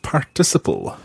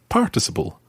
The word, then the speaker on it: participle: particularly in the states will probably know it as participle in the UK we pronounce it stressing the second syllable participle but whether you see